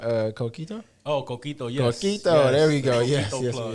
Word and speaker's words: coquito: in here what's it called uh coquito oh coquito yeah there we go yes yes that's how you pronounced it correctly well done yeah my R's